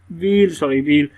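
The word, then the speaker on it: wheel: उसके बाद ये आपके पास आ गया WH हील, व्हील। यहाँ पर H जो है ना वो साइलेंट हो रहा है। ठीक है, वो साइलेंट वाला चक्कर मैंने आपको बता दिया, उसकी आवाज़ नहीं आ रही।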